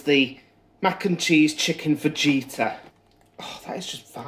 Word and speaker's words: fajita: I'll find it's pronounced fajita? Yeah, well, I'm English and I pronounce a J as a J.